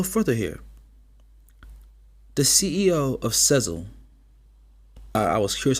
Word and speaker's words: Sezzle: I was like, Sizzle? Sezzle? I was seriously confused on how they supposed to pronounce that.